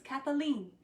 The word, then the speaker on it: Kathleen: But one of them's named George, and he comes and he says my name with 3 syllables, and I love it so much. He says, Kathleen.